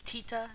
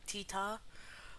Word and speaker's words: Teeta: It's Teeta, not Tita.